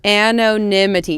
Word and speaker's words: anonymity: anonymity anonymity anonymity oh yeah anonymity and an anonymity yes that's how you say oh my God